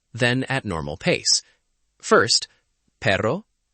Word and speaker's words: perro: First, perro, carro, arreglo. Feel the light trill in the middle. Perro, carro, arreglo.